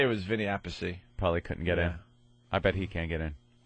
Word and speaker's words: Appice: Appice, Vinny Appice, Carmine and Vinny Appice.